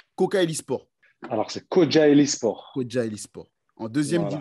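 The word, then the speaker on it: Kocaelispor: Là, actuellement, alors tu me dis si je le prononce bien, mais tu es à Kocaeli Spor. Alors, c'est Kocaeli Spor.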